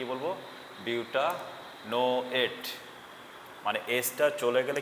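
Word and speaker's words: butanoate: বিউটা নো এট বিউটা নো এট।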